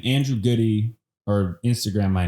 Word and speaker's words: Gude: it again g-u-d-e yeah so it's good no it's good it's not goody okay dude thanks for